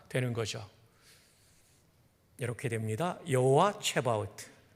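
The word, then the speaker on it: צְבָאוֹת: 오른쪽 앞에 있는 부분이 여호와라는 단어고 뒤에가 만군의라는 히브리어 체바우트 또는 쯔바우트로 발음합니다. 뒤에서부터 번역하니까 만군의 여호와가 되는 거죠. 이렇게 됩니다. 여호와 체바우트.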